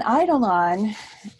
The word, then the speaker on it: eidolon: So an eidolon is a word that means both ghost and ideal. So you got the pronunciation right, Dana.